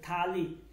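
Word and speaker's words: تھالی: যেমন থালি, কি থালি, থালি মানে হচ্ছে যে থালা বাসন যেটাকে আমরা বলে থাকি থালি, উচ্চারণটা কিন্তু কি হবে এটা থালি হবে, থালি, ঠিক আছে, থালি মানে হচ্ছে থালা বাসন যেটাকে আমরা বলে থাকি।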